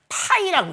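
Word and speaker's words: φ: 뭐라고 읽냐면 파이라고 읽는 거예요.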